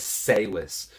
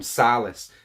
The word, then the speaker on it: Salis: a review of george his name is salis but i am so southern that i can't help but call him silas every time i say his name george silas so his